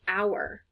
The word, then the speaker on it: hour: Sometimes, not very often, but sometimes H is silent. And so words like hour and honesty, herb, depending on where you're from, that H is silent.